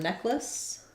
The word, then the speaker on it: necklace: so for the word necklace um necklace two syllables not necklace but just necklace necklace um so neck lace and then we had